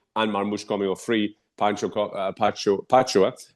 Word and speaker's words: Pacho: Pacho, I said it right, it came for 10 million.